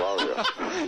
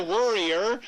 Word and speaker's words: Warrior: The Warrior. Not the Worrier. Yeah. That's how you say it.